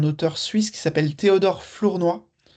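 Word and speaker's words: Flournoy: suisse qui s'appelle Théodore Flournois. Euh Florenoise, s'écrit F L O U R N O Y et euh c'est un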